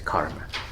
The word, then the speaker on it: karma: um anyway so uh in the pali uh pronunciation is kamma and then in sanskrit is karma so sometimes in these